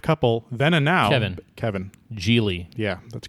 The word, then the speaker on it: Gigli: It's spelled Gigli. Gigli. That's giggly.